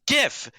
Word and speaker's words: GIF: leave god could come down and say it's pronounced jif and i'll say all right jod what if you say john it's a gif if it was jif like the peanut butter it'd